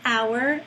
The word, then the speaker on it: hour: So for example, if a word is spelled with a silent letter at the beginning, for example, the word herb, H-E-R-B, or hour, H-O-U-R, it does begin with a written consonant, but that's silent.